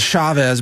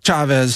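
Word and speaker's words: Chávez: And I know in America everybody says Chavez, but in South America it's Chavez, so that's the pronunciation I'm going with.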